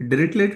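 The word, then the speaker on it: Dirichlet: ये है, T silent रहेगा, तो इसे जब पढ़ेंगे तो ये पढ़िएगा डायरेक्टली, प्रोनाउंसिएशन ये रहेगा इनका।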